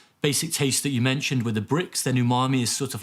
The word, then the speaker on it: umami: outside of japan it's very difficult to pronounce umami correctly many many scientists said you mummy so that that was